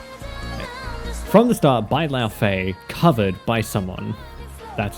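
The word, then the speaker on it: Laufey: From the start by La Feay.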